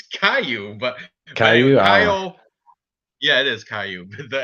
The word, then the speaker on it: Caio: But you know, that's how you spell ciao in Italian too, like ciao, like bye, ciao, right? Ciao, baby. That's exactly how you spell it too. But we'll call him Caio.